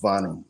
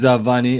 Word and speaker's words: Varney: Go ahead, can I just it's pronounced Vani. The R is silent. That's Varney. just the way. Yeah, the R is silent. On my first and last name, the R is just silent.